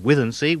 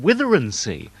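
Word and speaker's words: Withernsea: I remember at Radio Humberside, when I worked there, pronouncing the town Withensea, Withensea, that's the way it's spelled. But in that area, they call it Witherensea.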